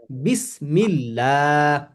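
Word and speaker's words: بسم الله: বিসমিল্লাহ বলেন বিসমিল্লাহ বিসমিল্লাহ তাহলে তাহলে এটা কি এরকম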